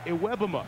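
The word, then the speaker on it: Iwebema: Pronunciation change. Kenny Iwebuma is the correct way to say it now. With Pearl, Wilcox, and Madison across the front, Iwebuma one of few experienced men.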